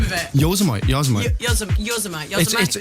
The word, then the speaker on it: Yosemite: Yosemite. Yosemite. It's so look up. This isn't going on. Look up the like pronunciation of that.